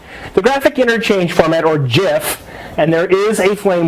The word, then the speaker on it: GIF: gif but the creators of the image format pronounce it jeff so we should - it was created by